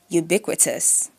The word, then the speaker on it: ubiquitous: British English ubiquitous. American English stress on the second syllable.